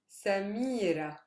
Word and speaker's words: Samira: now the stress changes so here i already have figured out that the last syllable is not super heavy so i go to the syllable preceding that me is that a heavy syllable yes it is because it's made up of a consonant and a long vowel so that's where my stress lies lissa see i'm stressing the me another example here we